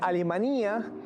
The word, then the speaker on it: Alemanía: Alemanía con tilde en la i, como lo pronuncian los alteños, es un hermoso pueblito de montaña.